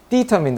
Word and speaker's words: determine: Lion fe 일단요 단어 단어 발음 잘못하는 경우가 있어요 어떻게 강부터 일단은 디터민 아 있고요 디터민 아 있고요 터입니다 디터 이고요요 에를가 어떻게 보면 내 것이 라는 마인이랑 비슷하잖아요 그래서 디터 이렇게 읽는 경우도 있는데 그렇지 않아요 디터 디터민